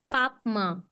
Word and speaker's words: महापाप्मा: Papma. Pap Papma. and ma. Papma. Okay, Papma. Mahashano Mahapapna. Mahashano Mahapapna. Mahashano Ma. Mahapapna. It's ma. It's like mother in Hindi.